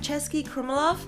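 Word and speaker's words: Český Krumlov: So this place is pronounced like Cesky, Krumlov, and it's a really cute, picturesque town in South Bohemia.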